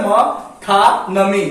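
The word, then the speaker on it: metonymy: इसका उच्चारण होता है मथानमी, मथानमी।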